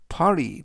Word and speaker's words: party: 발음은 파티보다는 파리 t 발음을 부드럽게 트보다는 르 그래서 파리 of 3 하면 세 명으로 구성된 일행이다라는 뜻이 되겠고요.